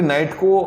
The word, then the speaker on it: knight: Basically नाइट की spelling होती है KNIGHT, पर आप मान लीजिए K को साइलेंट मान लीजिए या फिर नाइट का सिंबल मान लीजिए।